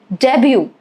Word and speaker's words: debut: Debut, silent T.